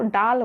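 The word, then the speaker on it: ডাল: दाल को डाल, दाल सब जो है द वो हिंदी है, और ड अगर उच्चारण करते हैं तो वो आपका बांग्ला आ जाएगा, डाल।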